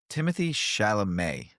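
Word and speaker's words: Timothée Chalamet: Um, Timothy Shalamé, that's how you pronounce his name, right?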